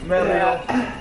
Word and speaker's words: Mario: you gotta like roll the R. Mario.